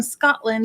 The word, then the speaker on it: Scotland: if you're from scotland if you're a real man from scotland you don't pronounce the t it's scotland but it